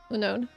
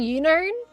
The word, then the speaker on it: Unown: You just had like unknown. Not unknown, there doesn't have a K.